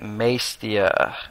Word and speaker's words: Maestia: known as mtia rise of cadus all right Maia that's how you pronounce it not sure if I butchered that